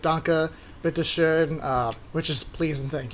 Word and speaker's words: bitte schön: enough to kind of simple phrases like danke, bitte schön, which is please and thank you. Yes. Oh wait, no, sorry. No. That was thank you and you're welcome. Okay, how do you say you're welcome? Bitte schön.